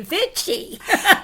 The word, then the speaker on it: Vichy: Yeah, it's Vichy. V-I-C-H-Y? V-I-C-H-Y. Vichy. Vichy. Vichy. So I think what I'll do is just point to Missy every time my Brooklyn, it wants to say Vichy.